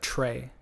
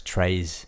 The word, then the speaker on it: très: So we would say like tray. Yeah. Tray. Yeah. Très. No, it's trays.